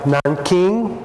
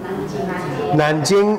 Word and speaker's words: Nanjing: Nanking or Nanjing? Nanjing is Mandarin. The government, in 1949, the new government changed the names to Mandarin's pronunciation. So Nanking became Nanjing.